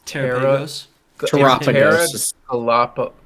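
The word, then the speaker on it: Terapagos: It's Terrapagos. Terra- Terra- Galapagos It's Galapagos with Terra.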